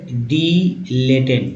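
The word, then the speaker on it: dilettante: तो एक वर्ड है डिलेटेंट, देखिए उच्चारण ये है, तो डिलेटेंट मीन्स कला प्रेमी या कला बिलासी।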